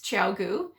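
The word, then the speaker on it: ChiaoGoo: heard of them before couldn't even pronounce the name I now know it's chaogu and I started knitting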